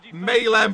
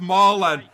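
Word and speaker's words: Malen: Maylen, but it's pronounced Marlen.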